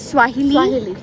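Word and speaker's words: Kiswahili: local language is स्वा ऐसे करके के से स्टार्ट है के कुछ एंड देन वो उसका case I it's silent local language is स्वाहिली या बस ये है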